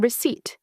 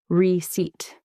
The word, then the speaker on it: receipt: Mistake number 39, pronouncing receipt with the P sound. Remember, the P is silent, so it's pronounced receipt.